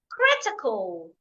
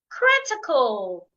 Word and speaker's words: critical: Critical. Critical. I'm stressing the first syllable.